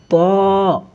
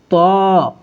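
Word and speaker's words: ط: ত, ত, আমাদেরকে খেয়াল রাখতে হবে যেন তার মতো না হয়ে যায়।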